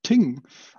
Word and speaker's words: thing: Actually, the pronunciation of thing is ting.